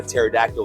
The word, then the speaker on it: pterodactyl: Why do scientists believe that you couldn't tell when a pterodactyl was going to the bathroom? Well, because the pee is silent.